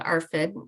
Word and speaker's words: ARFID: and and talking about Ben's eating disorder called arfid you were right the way you pronounced it it stands for avoidant restrictive food